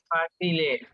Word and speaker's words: facile: Facile. Correct. Facile. Facile. Actually, the C is pronounced as ch.